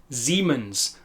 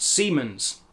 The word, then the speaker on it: Siemens: You will notice the S at the beginning of the word is pronounced more in line with an English Z or Z. Siemens and not Siemens.